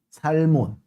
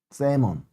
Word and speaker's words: salmon: L이 묵음 아니야? 맞죠, 여러분? 세몬. 아마 그럴 거예요. 솔직히 자신은 없다. 선생님, 영어는 알고 있잖아. 선생님 주종목이 아니라는 거. 맞지? 아, 연어초밥 친구 초등에서 올라온 거예요? 아니면 처음 신청해서 듣는 거예요? 배경이 바뀐 게 아니고 여기가 서브 촬영실이어서 그래요. 쌀몬 아닙니다. L은 묵음이에요.